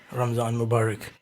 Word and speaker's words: Ramadan Mubarak: it is uh the right way to say ramzan mubarak it's a it's a great thing it's great